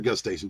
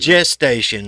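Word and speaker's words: gestation: is just station or G station G station just station is actually cor way all right I've heard it both ways but uh one's for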